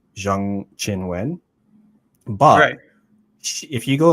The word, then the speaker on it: Qinwen Zheng: problem where so like her name is actually pronounced more like Jang Chin Wen but if you go like on the WT website she just says her name is Chinwin Jiang.